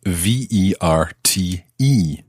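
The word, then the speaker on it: verte: this time it's spelt v-e-r-t-e so the e at the end makes the t sound the t is no longer silent listen to how these both sound the masculine ver the feminine vert and leave her there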